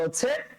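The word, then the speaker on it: حاء: হাটাকে উচ্চারণ করতে হয় কণ্ঠনালীর মধ্যখান থেকে। কণ্ঠনালীতে কয়টা ভাগ, কয়টা স্তর বলেছিলাম স্যার? কণ্ঠনালীতে 3টা স্তর, একটা উপরিভাগ, একটা মধ্যভাগ আর একটা শেষ ভাগ। আর হাটা উচ্চারণ করতে হয় কণ্ঠনালীর মধ্যভাগ থেকে। তাহলে বলেন তো দেখি হা, তারপরেরটা স্যার হ।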